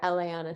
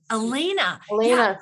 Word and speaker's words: Elaina: a day in the life of or Elana Elena sorry I I know I know it's tough